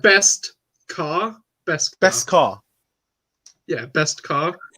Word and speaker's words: Beskar: Beskar. I can't pronounce it. Beskar. Beskar. Yeah, It's as like in like KSI best, with the word mural. sort of like best car.